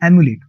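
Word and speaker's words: emulate: इसकी जो प्रोनाउंसिएशन है ना, मोस्टली अपन इसको बोलेंगे इमुलेट, लेकिन इसकी सही प्रोनाउंसिएशन है एमुलेट। एमुलेट, अ से है, इसकी साउंड ई से नहीं।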